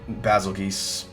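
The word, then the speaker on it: Bazelgeuse: called the the goose some people thought it was basil juice kind of like the star Betelgeuse it's spelled the same way in Japanese it's written as bazookas so that's why I call it basil geese or I'll just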